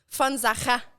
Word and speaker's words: Von Sacher: un V en allemand, c'est un F.